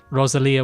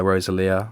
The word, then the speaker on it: Rosalía: lot of differences so my number three is rosalia with motor mummy oh yes i'm so glad